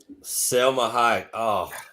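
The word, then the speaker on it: Salma Hayek: How do you say her name? Selma Hayek.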